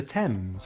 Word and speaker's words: Thames: Sometimes the H is silent in TH, such as Thailand, time, asthma, Thomas, and the Thames, as in the river in London.